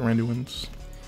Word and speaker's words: Randuin's: That's how you pronounce it, Randuin's.